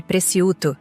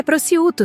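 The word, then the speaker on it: prosciutto: Fernanda fez questão de corrigir minha pronúncia de Preciuto na frente do garçom. É Prociuto, sogra. O C é mudo.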